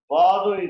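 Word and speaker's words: svādu: Swadu is sweet. English SWEET. Sanskrit is SVAADU. almost similar in pronunciation.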